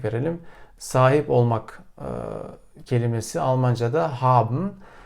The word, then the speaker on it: haben: Sahip olmak kelimesi Almanca'da haben. Haben'ın ilk hecesi ha. Şimdi orada ha olduğu için ve ilk hecenin sonunda sesli harf olduğu için o haben diye okunmuyor. Haben diye okunuyor. Dolayısıyla uzatılıyor.